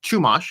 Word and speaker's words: Chumash: purchase a art scroll Chumash. It's spelled with a CH. When you see it, looks like Chumash if you are a Sephardic Jew, but it's in fact Chumash.